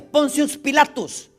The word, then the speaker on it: Pontius Pilatus: En latín así se pronuncia, Pontius Pilatus, que era el gobernador de Judea impuesto por César Tiberio.